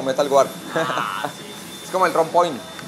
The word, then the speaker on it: Metal Guard: ¿Metalguar? Metalguar se dice, digamos que es la pronunciación en inglés, pero pues todo el mundo lo conoce como Metalguar.